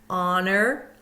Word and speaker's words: honor: Silent H at the beginning of a word. Honor, air, and honest. We go right to the vowel sound. We don't hear the H.